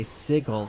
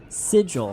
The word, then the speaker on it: sigil: I've never heard anyone say sigle, though. Huh? What do you guys say? What do you guys got to say about that steampunk monk? Sigil, how do you say that one?